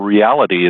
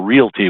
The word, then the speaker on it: Realty: into that they're probably a lot of folks that say digital reality instead of digital Realty when they look at your name it really is digital Realty but the reality of